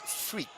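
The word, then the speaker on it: Freke: like a man so the goalkeepers actually spelled f r e k e is pronounced freak so uh well at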